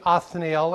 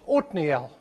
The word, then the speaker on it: Othniel: We can say Othniel if you like that. That's the way I said when the King James was my Bible. But when I lived in Israel for a while, I learned that that's to be pronounced Othniel.